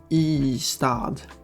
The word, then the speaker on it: Ystad: Ystad? No. Ystad. One letter followed by the words for city.